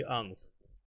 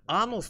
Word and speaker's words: Анос: нужно Да один или анус это один надо ударение на первый ставить Я знаю я не хочу ещё раз один или анус Ну знаешь анос тоже можно через о произносить как написано Но я же так